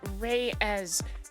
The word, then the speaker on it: Reyes: Uh, Reyes. Yes, I was pronouncing it correctly or pretty clo pretty damn close to correctly.